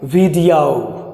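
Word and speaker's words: video: जो कि गलत होता है, आप इसे औ प्रोनाउंस कीजिए रेडियो रेडियो, या फिर वीडियो वीडियो, या फिर ऑडियो, ठीक है।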